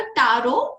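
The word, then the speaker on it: tarot: सो इट was like a टारो and then T को ऐड हुआ, फिर सब लोग टैरो टैरो करने लगे। ठीक है, सो टी is always silent.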